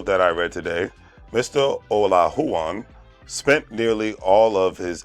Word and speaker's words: Olajuwon: former houston rockets back uh basketball player hakeem o la huwan i want to make sure i pronounce his name correctly according to the article that i read today mr ola huan spent nearly all of his 18-year career in